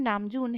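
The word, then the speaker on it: 남준: तो नाम तो ऐसे ही रहेगा, बट जो जून वाला पार्ट है उसमें ज को ज नहीं बोलना है, झ झ ऐसा बोलना है।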